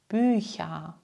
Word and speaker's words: Bücher: Nach diesen Lauten wird das CH wieder weich ausgesprochen. Schauen wir uns die Beispiele an. Nächte, Töchter, Bücher, Bäuche.